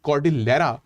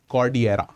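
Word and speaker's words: Cordillera: नाउ इट is written as कॉर्डिलेरा बट इट is pronounced as कॉर्डियरा।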